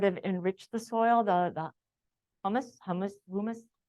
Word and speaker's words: humus: And so it burned all the nice, anything that would have enriched the soil, the humus, how would you pronounce? Humus. There we go, like human, but humus.